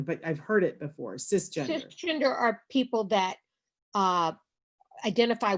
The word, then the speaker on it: cisgender: Is it CIS gender? Cisgender. Yeah, cisgender. And it's not a term that I know well enough to define, but I've heard it before, cisgender.